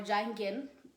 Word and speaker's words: Jung: Then Sigmund Freud had a student who is called Carl Jung or Carl Jung, different ways to pronounce his name. Carl Jung or Jung or Jungen, that this guy, he is currently famous.